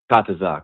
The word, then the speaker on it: Kataza: Is it Kataza? Kataza, correct. Yeah, not yet.